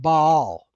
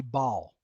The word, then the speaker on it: Baal: would perhaps have been pronounced baal. However, today we just truncate it and put them together and say bal. I was saying bale as a kid. So I would it could be pronounced bale with a long a as well. So that's a acceptable English pronunciation. But in the original I would say it would be bal is the ba